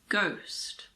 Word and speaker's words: ghost: now the letter H if a word begins with G H the H is silent like in the words girin ghetto Ghost similarly if a word starts